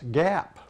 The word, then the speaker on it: Giap: people fromas alabama they would pronounce that name gap so that's pronunciation i'll be using tonight i through the